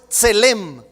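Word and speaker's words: צלם: La palabra imagen en hebreo es tselem. Tselem. Y viene de una raíz hebrea pronunciada como tzel.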